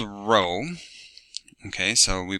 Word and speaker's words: Rho: we have a P looking thing that's called Rho okay so we pronounce that as Rho Rho or like Rho R over R oh